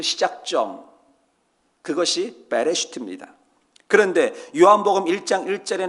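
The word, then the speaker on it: בראשית: 것입니다 창세기 1장 1절에 태초 는 히브리 말로 베레쉬트 이렇게 읽습니다 요한복음 1장 1절에 나오는 태초 는 a 캐라 고 있습니다 발음이 다르잖아요 같은 단어가 아닙니다 그런데 한글 성경에서는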